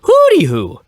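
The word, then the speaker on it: Hoody Hoo: a d okay so it's not hoot like an owl it's Hood like a hoodie like in the hood hoodie who okay but they pronounce it hoody who so according to Wikipedia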